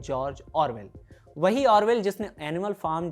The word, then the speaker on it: George Orwell: Title था in search of अ जॉर्ज आरविल। जॉर्ज आरविल Motihari के एक बुजुर्ग का उच्चारण था जिसे इयान जैक ने छाप दिया था। असल में उस लेखक का नाम है जॉर्ज ऑरवेल।